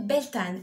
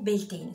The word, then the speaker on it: Beltane: ou du sabbat de Beltane ou belting suivant les prononciations on la célèbre le